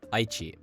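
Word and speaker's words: 愛知: I should also note that basically all prefectures with two or three mora use the atamadaka pattern when pronounced in isolation. Aichi, Tochigi, Chiba, Kochi.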